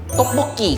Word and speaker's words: tteokbokki: Tteokbokki. Am I pronounced it right?